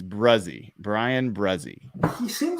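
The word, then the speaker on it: Bresee: It's Brzee. Brzee. I knew it was something that doesn't sound at all like it was spelled. It's Brzee.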